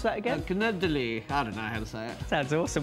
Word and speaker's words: canederli: got an Italian dish on the menu I pronounce that again canederli had an answer there's also with an accent